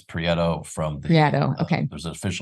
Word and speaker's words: Prieto: Prieto. Correct? Is Did I it say it wrong? Prieto? There's there's an official, it's Prieto from the.